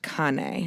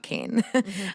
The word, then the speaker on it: Cane: C a and E it is pronounced kanay not cane it's Italian for dog Connie Corso and that